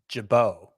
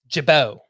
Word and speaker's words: Gibaut: It's a hard G. Ian Gibaut. Gibaut.